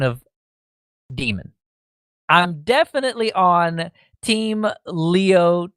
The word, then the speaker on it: daemon: an alternative spelling to demon is pronounced D-E-E-M-E-N, demon, in the context of computer software.